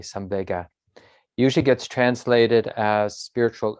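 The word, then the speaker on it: saṃvega: life is this quality called some vega which is a poly word i think it's the same pronunciation in sanskrit as well some vega s-a-m-v-e-g-a some vega usually gets translated as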